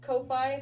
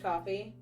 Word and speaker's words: Ko-fi: I always pronounce it like Ko-fi, but then they always say like, hey, buy me a coffee. So I'm assuming it's pronounced coffee.